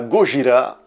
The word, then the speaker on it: Gojira: Kaiju Eiga, c'est le film de gros monstres dont le plus célèbre, le plus représentatif est évidemment Godzilla, Gojira, si on le prononce de manière plus correcte.